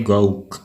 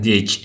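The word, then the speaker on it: gauge: membahas mengenai tekanan Gage ini dibacanya Gage Ya tapi kalau orang Indonesia kadang-kadang bacanya gouw tekanan gouw tapi yang benar ada tekanan gadge nah tekanan Gage adalah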